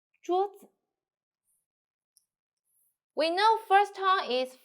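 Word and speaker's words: 桌子: Please don't do like this. 桌子, 桌子. No, it's okay, but here so wet, so we say 桌子, 桌子.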